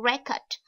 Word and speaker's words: record: Các bạn lưu ý ha, mình có hai cách đọc danh từ. Cứ danh từ thì mình nhấn âm thứ nhất và động từ mình nhấn âm thứ hai.